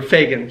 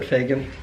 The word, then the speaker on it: Fagen: I go by Fagen, yeah. Yeah, I say it right. Pronounced like Reagan, but Fagen.